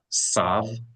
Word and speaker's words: tav: When there's no dot to the tav, instead of pronouncing it as a th like in the word think, think, they pronounce it like an s with no distinction whatsoever between with no dot sav and the letter sonic and the letter seem.